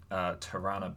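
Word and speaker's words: Tarana: the founder of the hashtag me to movement tirana Burke and that's how you pronounce her name she she takes to Twitter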